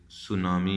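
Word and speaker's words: tsunami: इसी तरीके से टी एस से सुनामी आप बनाते हैं, दिस इज। सो इस तरह ये साइलेंट हो जाते हैं लेटर्स।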